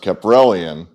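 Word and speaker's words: Kaprielian: This guy, I think it's pronounced Caprellian.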